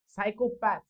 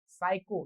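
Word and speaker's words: psycho: सेस्ट okay पुढे बघा सायकोपर psychologically P एस वाय हे बघा सायको यातील पी सायलेंट असतो पण स्पेलिंग सायको असं असत ते सुद्धा पी ने स्टार्ट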